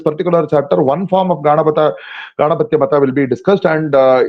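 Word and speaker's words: Gāṇapatya: So when you derive the other word from this word Ganapati by the sutra Ditya Ditya Titya Patyuttara Padanyaha, then what happens is that the very first syllable ga, that becomes longer, ga, and at the end it becomes modified into tya. So it is actually Ganapatya and it is not Ganapatya.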